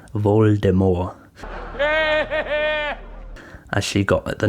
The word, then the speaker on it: Voldemort: to give jk rowling intended voldemort's name to be pronounced with a silent t voldemort as she got at